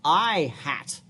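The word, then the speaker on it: î: you've seen this before this is pronounced I hat see how the eye has a little hat distinct from what my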